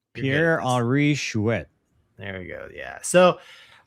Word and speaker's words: Pierre-Henri Chouet: So there's a whole lot of words, but Pierre, I can't pronounce his name. Doug, how do you say his name? Pierre-Henri Chouet.